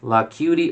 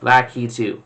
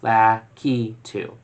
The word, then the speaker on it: Lakitu: Second, is Lakitu pronounced Lacuti or Lakitu?